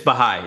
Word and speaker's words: Baha'i: Is that how you pronounce it? It's Baha'i.